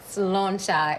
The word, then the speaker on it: Sláinte: Sláinte.